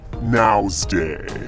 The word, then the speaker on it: Wednesday: into this hump day Wednesday now's day put this silent D in Wednesday vitamin D that is